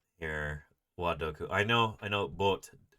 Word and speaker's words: Boot: I know, Boot, das Boot. It would be the German pronunciation.